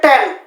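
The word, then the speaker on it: tan: এইটা হচ্ছে 10 এইটা হচ্ছে একটা অনুপাত এইটার উচ্চারণ টেন টয়কার টেন টেন এইটা হচ্ছে ট্যান টয় মানে ট্যাং খেনা ট্যাং ট্যাংক শরবত ওইটা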